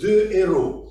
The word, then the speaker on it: deux héros: Par exemple, deux héros. Quand on prononce ces deux mots, on ne fait pas la liaison.